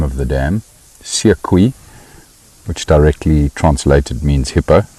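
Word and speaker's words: Seekoei: Carol, to answer your question as to how you spell the name of the dam, Siekwi, which directly translated means hippo.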